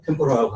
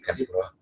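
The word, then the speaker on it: 天ぷら: 일본 튀김을 이제 템포라라고 하잖아요. 그게 원래 이제 템푸라. 그렇죠, 템푸라. 템푸라를 이제 미국 사람 템포라라고 얘기를 하니까. 저거 일본 사람이죠. 템푸라. 진짜 일본 발음 나왔어요.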